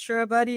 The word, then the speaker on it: Charabaty: Myriam, um did I pronounce your surname right? Is it Charabaty? Yes, it is. It is. It's Charabaty.